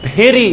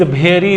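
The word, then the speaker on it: very: है वो कहते हैं this flower is वेरी beautiful. तो ऐसे नहीं बोलना है, इसको कैसे बोलना,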